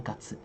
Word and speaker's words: 月: Jadi ini memang kanjinya sama tapi cara bacanya beda. Di sini bacanya gatsu.